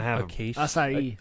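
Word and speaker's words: açaí: Acai. A- a- Acai. Something like that, yeah. Acai. It's pronounced acai.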